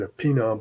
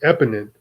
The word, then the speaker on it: eponym: there you go eponym I said a peanut but eponym a person after whom